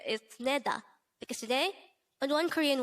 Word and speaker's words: 내다: combine the angle for each of these two syllables to form the angle of the word neda again and then diket plus a that's neda